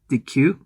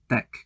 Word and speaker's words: deque: can write this as it's not pronounced dq but it's actually pronounced as deck deck is a type of